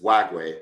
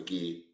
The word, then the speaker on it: McGee: Because all last year he was Wagway, but he's actually McGee.